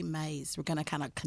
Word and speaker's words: Myss: It's M-Y-S-S. I heard it pronounced Mays. I heard it pronounced mice. So we're going to say Mays.